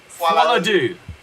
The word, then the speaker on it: Folie à Deux: How do you pronounce this? Joker Folie à Deux. Folie à Deux. Folie à Deux.